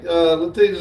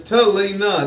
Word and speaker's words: Talina: It says, yeah, I said it backwards. It's Talina, not Latina.